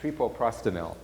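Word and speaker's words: treprostinil: sure I say it, I often put one extra syllable in it. I think it's trepoprostenil.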